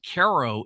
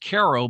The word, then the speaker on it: Cairo: Caro, Illinois. It's pronounced Ko, but it's spelled like Cairo, Egypt.